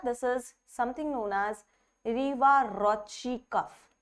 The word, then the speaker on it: Riva-Rocci: This is something known as Riva-Rocci cuff. This pronunciation is correct because जैसे Gucci होता है ना, वैसे ही Rocci है because he was the scientist and the name comes from there.